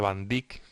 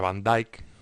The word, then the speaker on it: van Dijk: que es van dijk yo creo que dije van Dick pero creo que se pronuncia van dijk una una obra eh